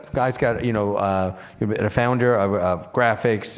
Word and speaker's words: GRAAFICS: I am the founding executive director of a program of a 501c3 called Graphics. It's spelled GRAAFICS.